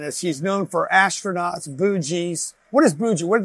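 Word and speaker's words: Boonji: Like bougie, bougie. Bougie. Like, the bougie space. How do you say it? Bougie. B-O-O-N-G-I. There's an N in there.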